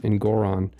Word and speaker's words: Engoron: I haven't said Hobo Judge's name in a long time, so I forgot how to pronounce it again. It's Engoron.